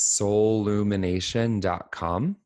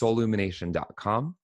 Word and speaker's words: Soulumination: Um there's only one L like soul. So, it's s o u l and then it's u m i n a t i o n like soul illumination and we'll include a link too.